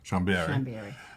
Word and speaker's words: Chambéry: So I say that right? Chambéry. Sister Theresa Fonti. Yes, she said I had to say it like it's Italian.